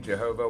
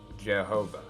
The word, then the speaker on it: Jehovah: years and of course when pronounced with a German accent of that time period why is sound like J's and W sound like V's so the name was pronounced Jehovah we now know how